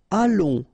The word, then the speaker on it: allons: Nous allons. Remember, final S not pronounced. O and together, it's on. And then we'll make this little link between the two, what we call the liaison, nous allons.